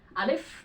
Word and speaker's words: Alif: Alif pakai F ya. Alif karena alif itu memiliki sifat hamas. Jadi ketika diucapkan alif ya, udara itu tetap keluar, nggak tertahan. Alif. Jadi pakai F bukan P. Kalau pakai P balem alif. Salah itu. Pakai F.